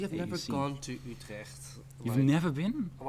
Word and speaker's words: Utrecht: I'm from Utrecht, and you can pronounce the U really well. So Utrecht.